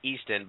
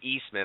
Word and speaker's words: Easton: Yeah, I think that's the one thing I enjoy about Easton. I've been calling him Eastman all night.